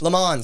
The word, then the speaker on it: Le Mans: Le Mans, sorry.